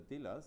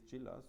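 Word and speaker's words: Đilas: Dilas, yeah? He is Gilas, I think it's correctly pronounced.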